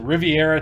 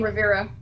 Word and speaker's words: Riviera: just end up saying Rivera Rivera yeah why is that second eye silent I don't know I think it's just because um it it's originally named after like the French Riviera and then with so